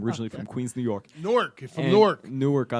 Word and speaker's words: Newark: I had to teach a Philadelphian how to say it like that.